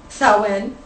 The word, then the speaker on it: Samhain: Samhain is pronounced, Samhain.